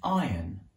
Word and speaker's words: iron: in english this is an iron with a silent r this is an ironing